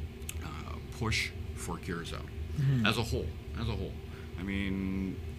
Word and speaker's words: Curaçao: They, no disrespect, but can't pronounce Curaçao. Curaçao is yeah. I've heard people call when it you see Curacao.